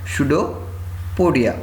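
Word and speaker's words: pseudopodia: उसको क्या बोलते हैं स्टूडियो चोरडिया यहां पर पीस साइलेंट होता है ठीक है के आगे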